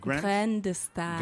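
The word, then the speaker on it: Graines de Star: How do you pronounce it? Grain de Star.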